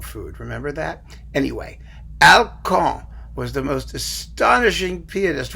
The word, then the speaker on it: Alkan: alcohol charles valentin or alcan as we like to call him here in the good old u.s of a because it rhymes with calcan the dog food remember that anyway alcong was the most astonishing